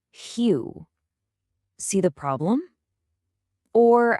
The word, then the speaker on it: real: An English speaker, you and me, we'd instinctively read it as real. But that's not it at all. It's actually pronounced closer to hue.